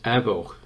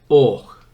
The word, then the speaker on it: Avoch: We Sassenachs would call this Avoch. Scotsmen would hold their hands up in horror at that, and they pronounce it Och.